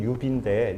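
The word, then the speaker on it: 指: 발음은 유비인데, 이 수업에서는 발음은 거의 하지 않겠습니다.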